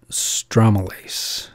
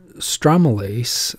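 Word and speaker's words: stromelysin: it cleans up tissue stromalase or pronounced strom like palm strome illicin i call it stromalace that's how i learned it uh and or stromalyzen oh yeah i forgot the sin uh stromolysin new slides stromolysin is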